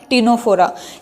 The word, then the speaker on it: Ctenophora: That is phylum टीनोफोरा। क्या है phylum? Phylum टीनोफोरा। और ये जो टर्म है टीनोफोरा, सी साइलेंट है, ठीक है, इट was given by S bolts.